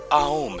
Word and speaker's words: ओम: टू मा है य उसका सही प्रोनंसिएशन ओम नहीं बल्कि आओम है ओम को एक्चुअली में